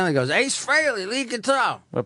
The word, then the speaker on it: Frehley: I would say Hreily Freelie admits That freylee is the proper pronunciation Oh its freyleey?